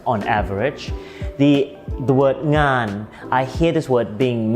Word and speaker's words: งาน: The word งาน, I hear this word being mispronounced differently by different people. Sometimes they say /naan/ or /yaan/ or /gaan/ or /nyaan/ even, which are all incorrect!